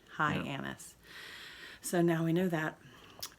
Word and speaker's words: Hyannis: Found out from a waiter that it's pronounced Hyannis. Hyannis. Right? Hyannis. Ann. Ann. It's got an Ann. Hyannis.